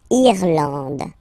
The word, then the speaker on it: Irlande: Irlande. Okay, A-N, an, D, and final E, not pronounced.